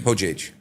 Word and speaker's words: Hojeige: Hojeige. Hojeige. Hojeige. Try not to put the accent on the ho. J is like that. Yeah? Hojeige.